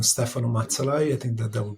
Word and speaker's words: Stefano Mazzalai: handle is just uh first and last name Stefan matai I think that that would be that would